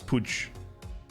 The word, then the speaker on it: Puig: dropping daddy pronounce uh what we would call puig in spanish yeah it's pooch it's annoying because my